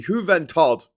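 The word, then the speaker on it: Isla de la Juventud: I'm going to say this correctly. Juventod. That's like German, doesn't it? Hello, my name is Mr. Juventod. But yeah, it looks like Juventus, but it's pronounced Juventod.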